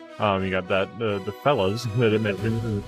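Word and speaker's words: fellah: Uh the other one was fella. That's spelled F E L L A H.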